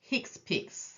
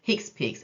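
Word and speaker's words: HCPCS: third set is pronounced hick pic the abbreviation is pronounced hick pic and it stands for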